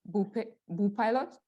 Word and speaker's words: Bopilot: I was reading about your project, and as you said, it's Bopilot.